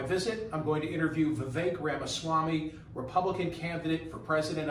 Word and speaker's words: Vivek: you get a lot it is Vivek like cake like cake you got it so